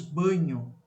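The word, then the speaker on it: Bagno: Marcos Banho, tá? Banho, não. Se escreve de um jeito diferente, você vai ver a grafia aí.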